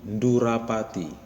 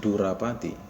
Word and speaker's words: ndurapati: Merpati dalam bahasa karonya itu ndurapati. Ndu ya, pakai nd. Ndurapati. Ndurapati, bukan durapati, tapi ndurapati pakai nd.